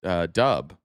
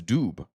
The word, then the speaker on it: Doob: know that your last name is not actually pronounced Dub. It's Doob, but you don't ever correct anybody.